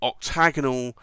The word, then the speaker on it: Octa90nal: again stacked celluloid but he called it the octagonal but with a PlayOn on the word octagonal so it's Oct a 9 0 as in 90th anniversary n al so octagonal but spelt with 19 in the name which is a little